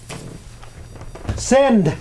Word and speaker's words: send: Send. Send. And we pronounce the D at the end, as you notice. Send. Send. Very good. In some languages, the D is not pronounced as a hard D at the end.